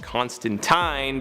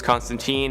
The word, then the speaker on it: Constantine: i know in the original source material it's pronounced constantine but in all of his live-action appearances and animated appearances he's referred to as constantine and honestly that's just kind of the preferred